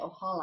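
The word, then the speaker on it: Ojala: pattern it's by um sharon o'halla o j a l a o holla i think that's how she pronounces it um and i forgot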